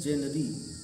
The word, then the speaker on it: genre: अलावा हम पढ़ेंगे क्या, लेकिन ये जेनरी पढ़ा ही नहीं जाता। तो लिखा ही जेनरी है तो पढ़ेंगे भाई, स्पेलिंग ही कह रही है, लेकिन ये बिल्कुल पूरी तरह से अलग। इसको जॉन रा पढ़ रहे हैं, जेनरी है ही नहीं, जॉन रा पढ़ दे रहे हैं उसको।